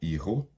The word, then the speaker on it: hijo: É Salomão, hijo. Hijo é filho. Então veja bem que é hijo, o J com som de, nosso dois R's.